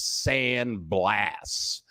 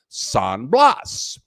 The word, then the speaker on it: San Blas: here it's called saying I'm gonna say it's sand blast I think in Spanish you would pronounce that San Blas and there's there aren't